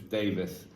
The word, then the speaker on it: Davies: one way to pronounce it, and it's Davis.